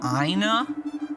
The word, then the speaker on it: Aina: It's Aina, if you must know. Aina? Anus? How do you pronounce that?